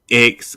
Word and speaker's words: X: So y'all go ahead and make sure y'all following um X. How you pronounce it? Hey, I'm bad at. I'm saying Miss X. Zay. Zay. It's Zay. Zay.